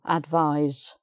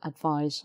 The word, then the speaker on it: advise: you a clue again you've got an infinitive here to advise so that gives you a clue advise said sound to advise i need someone to advise